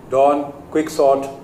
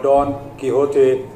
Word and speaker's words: Don Quixote: So the pronunciations are very different because it's Spanish.